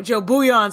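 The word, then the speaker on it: Jo Bouillon: because it's like nice is that how you say it the beyond the um I'm sorry I've been saying it wrong so Joe bouillon so you call him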